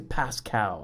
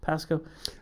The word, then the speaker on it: Pasco: say the pasco pasco i always say pascal i know it's wrong pasco i thought sunnyside washington yakima washington i highly recommend it if you're ever i always said pasco i love it that's